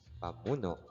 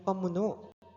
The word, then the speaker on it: pamuno: Magtungo naman tayo sa ikatlong gamit ng pangalan na kadalasang binibigkas bilang pamuno. Subalit ito'y nararapat na bigkasin bilang pamuno dahil ang pangalang ito